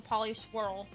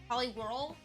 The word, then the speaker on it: Poliwhirl: I didn't know that there were three evolutions for Poli Swirl. Poliwhirl. Poliwhirl. Sorry, I'm going to say his name wrong at least eight more times.